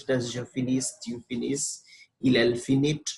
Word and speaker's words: finis: So this will be pronounced as je finis, tu finis, il, elle finit. That S, S, and T will be silent. In other words, the final S and T are silent, as I told you.